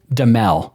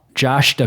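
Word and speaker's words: Duhamel: I think it's just DL. Hold on. Yahoo Entertainment has an article about commonly mispronounced celebrity names and his is one of them. So, uh, it's simply DL.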